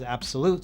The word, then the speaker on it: abxylute: with the company and they said it is supposed to be pronounced as absolute so that's what we're